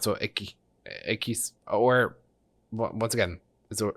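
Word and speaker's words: equis: Okay, that's why we got the misogyny warning, but the U is not pronounced. So ekis or once again is s pronounced so lost.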